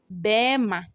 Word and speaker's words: berima: here is berima berima so when you are mentioned berima you mention it Burma Burma the r would not come Burma so as I said